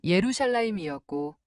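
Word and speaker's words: ירושלים: 처음에는 예루살렘이나 베들레헴처럼 잘 알려진 도시들부터 시작했는데 히브리어 발음으로 읽어보니 우리가 알고 있던 것과는 전혀 다른 소리였습니다. 예루살렘은 예루샬라임이었고 베들레헴은 베이트레헴이었죠.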